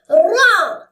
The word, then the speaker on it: ر: Ra. Don't say Ra like English Ra. Say it like low frequency, like Mexican Ra.